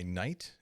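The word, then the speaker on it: Knite: one this is by night uh k-n-i-t-e i'm pronouncing it night and it's hard at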